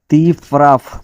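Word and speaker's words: ты прав: দুটো অর্ডার যেভাবে বললেই হবে সমস্যা নাই তিপ্রাফ তিপ্রাফ মানে তুমি ঠিক বলেছো তিপ্রাফ তি প্রাপ এখানে প্রাপ লাস্টে আছে ভি তো এই ভি এর উচ্চারণটা ভের মত না হয়ে এফ এর মত হচ্ছে তিফ এফ এর মত কেন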